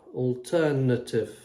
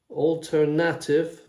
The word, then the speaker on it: alternative: By the way, the sound is schwa, that Altern. Schwa. Alternative. We don't say alternative, no. Alternative, neither. We say alternative.